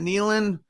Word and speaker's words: Nealon: Nealon?